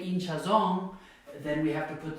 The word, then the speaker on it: hinchazón: Hinchazón, so it ends in an N. Naturally, it should be here. It should be hinchazón, but since that's not how people say it, they say hinchazón, then we have to put the written accent there.